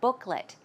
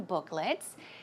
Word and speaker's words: booklet: Remember, Joanne was talking about these coupon or coupon booklets, and the pronunciation is booklet. It's not let, although it's L-E-T, it's pronounced as an L-I-T, a short I sound, booklet.